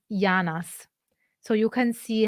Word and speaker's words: janas: yeah and in Sardinian so janas would be pronounced in Neapolitan yanas so you can see